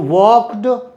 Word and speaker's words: walked: तो walk में से walked home, प क स श च के बाद अगर ड आता है तो ड का प्रोनाउंसिएशन ट होता है।